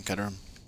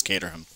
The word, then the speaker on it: Caterham: purpose congratulations to him kedram ketum is what you think is how it's supposed to pronounce like genuinely it's caterham but you know where's